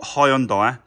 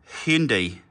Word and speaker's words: Hyundai: the main dealer and it's not Hyundai it's Hindi I'm surprised no one